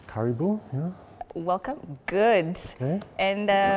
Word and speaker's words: karibu: It's Karibu, yeah.